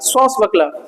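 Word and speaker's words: swashbuckler: की हल्की साउंड देगा स्वास बकल स्वास अबे स्वास नहीं है स्वास बकल आर साइलेंट है अब ये क्या है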